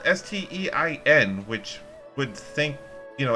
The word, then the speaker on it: Stein: that because it's spelled s-t-e-i-n which would think you know everybody would think that they'd automatically pronounce it stein because that's like a beer stein but yeah i've heard